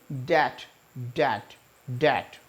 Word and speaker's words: debt: लिए डेट नहीं होता बे साइलेंट एंड यहां पर बोलते थे डे at what is the date तो आ अब से आप लोग डेबिट नहीं बोलेंगे डेट डेट डेट रुके है नेक्स्ट टॉम